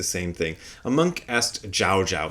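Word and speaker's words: Zhaozhou: A monk asked Jao Jao. So they they like to use the Chinese pronunciation of of his name. Jau is the Japanese pronunciation of the same master's name.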